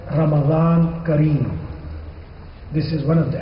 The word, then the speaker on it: Kareem: will be said Ramadan Kareem. This is one of the etiquettes of Ramadan. If I say Ramadan Mubarak, you will reply Ramadan Kareem. And this is not cream. It is Kareem.